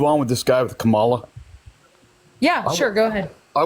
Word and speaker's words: Kamala: Her name is pronounced Kamala Harris.